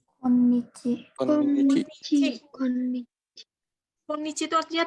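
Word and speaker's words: 今日: Ini bacanya apa nih? Bacanya kyo atau apa nih? Bukan kyo ya ini ya. Bacanya adalah konnichi.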